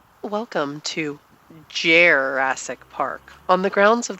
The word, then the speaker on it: Jerrassic: Welcome to Jerrassic Park on the grounds of the Military Aviation Museum in the outskirts of Virginia Beach, Virginia.